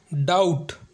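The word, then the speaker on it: doubt: तो हमारा पहला एग्जांपल है डाउट जिसका मतलब होता है संदेह डाउट में बी साइलेंट होता है इसमें बी को पढ़ा नहीं जाता क्योंकि आप देख सकते हैं कि बी के बाद टी आया है हमारा दूसरा एग्जांपल है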